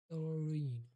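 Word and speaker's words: thirteen: When I say the tens numbers, the stress falls on the first syllable.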